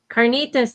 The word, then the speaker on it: carnitas: We had um how do you say can carolenas carnas? Carnitas.